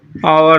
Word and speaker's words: hour: ये आवर हो गया। क्या हो गया? आवर हो गया। अर्थात मैं ये कह सकता हूँ कि ये एच क्या है? साइलेंट हो जाते हैं।